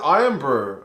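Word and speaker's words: Irn-Bru: is it iron brew it's spell irn excuse me if it's pronounced iron brew unless this bottle cap has got wrong obviously bottle caps are probably not the most flawless kind of um information and it's literally pronounced like iron i've learned something today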